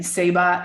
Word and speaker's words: Ceiba: Seba is the Mayan tree of life, and it's spelt CEIBA.